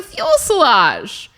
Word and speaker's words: fuselage: My whole life, I've thought it was a fuselage.